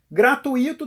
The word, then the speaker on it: gratuito: certamente dói no ouvido gratuito teria que ter assento já que segundo a gramática a gente assentou a segunda vogal do hiato quando ela é a sílaba tônica exemplo de Bahia ou Faísca como gratuito não tem acento não pode ser gratuito a sílaba tônica eu